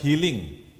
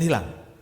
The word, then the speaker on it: healing: Mencari domba yang healing. Coba anak-anak bacanya benar. Healing bukan hilang.